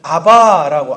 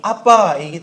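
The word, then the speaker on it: abba: 그래서 이전 번역에는 아바라고 아바 아버지 이렇게 번역을 했었는데 그게 아니고 실제 발음이 아빠이기 때문에에 개혁 계정에서는 아빠로 번역을 했습니다. 원래 발음에 가깝게 번역을 했습니다.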